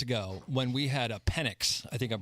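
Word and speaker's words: Penix: a couple years ago when we had a penic I think I'm pronouncing that right penex yep um I always text it and it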